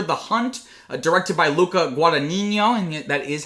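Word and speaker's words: Guadagnino: Today we are talking about After the Hunt directed by Luca Guadinho and that is how you say I have been taking Italian on Duolingo for a few years now.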